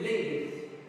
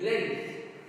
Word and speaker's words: length: G here is a silent letter. I cannot say length. No, it's length.